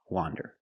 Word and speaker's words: wander: Wander with the open sound. A wander.